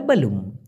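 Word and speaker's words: belum: বেলুম মানে হচ্ছে, আমার মতো অতটা ওইভাবে বলে না অনেকে, মালয়েশিয়ানা যে এরকম বলবে বেলুম, না, ওরা বলে বেলুম, বেলুম মানে বেটা ছোট করে।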